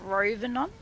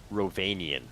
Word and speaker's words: Rhovanion: I'm going to try and pronounce it and you can correct me. Is it the realm of Ravenon? Ravenian.